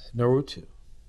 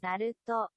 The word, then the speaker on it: Naruto: Naruto.